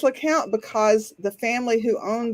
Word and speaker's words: Lecompte: And the sign painter misspelled it and put the P in there. Because of course he did. Exactly. But that's not even why it's pronounced LeCount. It is pronounced LeCount because the family who